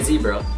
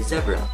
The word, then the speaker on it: zebra: We all know Americans say zebra, they say zebra.